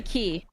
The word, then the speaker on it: Quay: That'd be key. key. Okay, they don't make any mana. They're very bad. Two of It would my have made mana that It's game. spelled Quay, but it's pronounced Key.